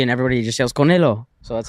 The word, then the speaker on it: Canelo: Canelo. Canelo. Canelo. You said it a little different. It's fine. We It's Don't worry. I went to Triple G and everybody just yells Canelo.